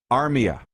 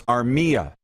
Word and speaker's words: Armia: a day or two the middle syllable is the one you emphasize for instance i said to the one guy brian today if you go back and listen to the 2012 world juniors tape of the broadcast moose you and i listen to it i said uh you know joel armia no it's armia armia middle syllable so anyways this is